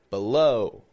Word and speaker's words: below: the second syllable low the first syllable B has the schwa sound the second syllable low is stressed it's strong below how about below my